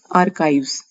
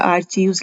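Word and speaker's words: archives: Next जो हमारा word है वो है आर्काइव्स। ये आर्काइव्स है, लेकिन अगर हम इसको देखा आर्चीव्स लग रहा है, लेकिन इसकी प्रोनाउंसिएशन आर्काइव्स है।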